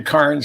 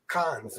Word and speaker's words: Cairns: And I've been up to Cairns.